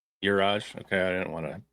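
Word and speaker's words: Juraj: How do you pronounce his first name? Uraj. Uraj. Okay, I didn't want to completely mess it up, but Uraj Slavkovsky.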